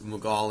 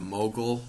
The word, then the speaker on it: Mughal: to talk about the magal empire or the mogul or the mughal empire you'll hear it pronounced in a number of different ways so i'll probably mispronounce